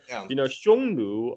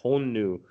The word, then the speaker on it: Xiongnu: A great question, because Xiongnu, or that's in the modern Mandarin pronunciation. Back in the days, he's probably pronounced something like Hongnu, because the Sanskrit, according to the Sanskrit transcription, they're called Hunna, right?